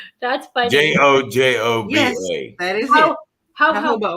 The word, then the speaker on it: jojoba: Jojoba oil. Yeah, hobo. Or maybe it's JOJOBA. She's just like, no, it's hobo. I say next time. Ho. But yeah, it's pronounced hobo.